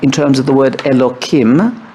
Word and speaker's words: Elokim: So if we're going to speak tonight in terms of the word Elokim, which I pronounce with a k, not a hey, her, because that's another way of not expressly pronouncing it, we're talking about the God that hides through nature.